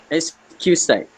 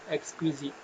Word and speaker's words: exquisite: Okay, can you guys pronounce this word? Apa ni? Exquisite. Siapa boleh sebut? Excuse side. Excuse. Okay. Aiman just now. Was it Aiman? Aiman, what did you say? Exquisite.